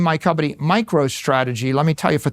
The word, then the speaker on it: MicroStrategy: Now I name my company MicroStrategy. Let me tell you, for 30 years, half our customers mispronounced it, microstrategies.